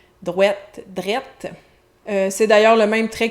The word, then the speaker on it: drette: Drette ça, c'est la déformation du mot droit, encore une fois avec le même trait de prononciation. Donc droit devient droite qui devient drette.